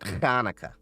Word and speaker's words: Hanukkah: How many people do you know can properly pronounce Chet and say it Hanukkah without overdoing it? You know, like you're sounding like you're clearing your throat.